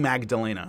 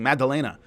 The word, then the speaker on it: Maddalena: I'm not saying Magdalena. I'm saying Maddalena. It may sound like I'm saying Magdalena, but I'm not. I know how to say his name. So, anyway, I'm saying a D.